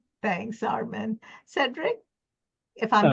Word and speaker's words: Cedrick: Thanks Armen Cedric if I'm pronouncing your name right.